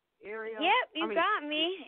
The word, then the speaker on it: Ariel: came on is that you ariel am i pronouncing your name right ariel yep you got me ariel you got it just right oh my